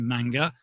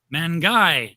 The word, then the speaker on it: Mangai: it wrong forever Mike the thing you're not pronouncing wrong is manga because we're not saying manga or Manga we're saying mangai tonight right so the name